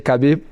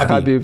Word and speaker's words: Khabib: I know it's hard because everybody say Khabib, but his name is Khabib.